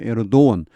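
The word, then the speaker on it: Erdoğan: 터키의 대통령 Recep Tayyip Erdogan은 이게 영어 발음을 들어보면은 어떤 사람은 에르도건 하기도 하고 어떤 사람은 에르도원 하는데 요즘 제가 쭉 들어보니까 대체로 에르도원 G가 모음이 되는 것 같습니다.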